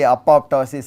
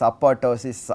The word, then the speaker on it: apoptosis: are accepted okay uh similarly apoptosis apotosis any way you say that's accepted as correct although the correct one is supposed to be both piece being pronounced uh if you are in